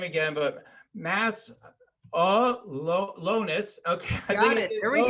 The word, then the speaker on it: Masiulionis: to try to pronounce his name again, but Masiulionis. Okay, got it. There we go. I think I got it. Did I nail it, John? Okay. You got it, Masiulionis. You got it. Masiulionis.